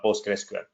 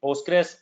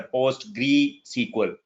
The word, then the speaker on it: PostgreSQL: You can call it Postgres or PostgreSQL. Most people or PostgreSQL. Okay, I'm good. So actually, the most of the people mispronounce it's a PostgreSQL. Postgre. It's not Postgre. It's PostgreSQL or Postgres.